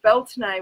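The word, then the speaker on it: Bealtaine: us this is Beltane the Irish pronounce it Felton a which I think it's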